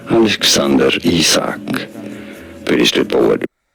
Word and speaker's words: Alexander Isak: for more learning how to you say it Alexander isak Alexander isak pretty St forward right so let's try and